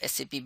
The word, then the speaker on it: SAP: is the role of SAP basis consultant, what is SAP basis, and more. What is SAP? SAP is pronounced as SAP, never pronounced as sap of a tree.